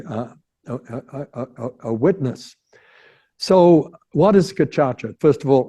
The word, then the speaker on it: Gacaca: So what is Gacaca? First of all, how do you spell it? Well, G-A-C, like in French, A-C as in French, A.